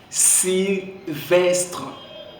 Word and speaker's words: Sylvestre: Sylvestre. C'est bien prononcé.